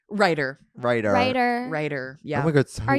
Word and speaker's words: Reiter: Writer.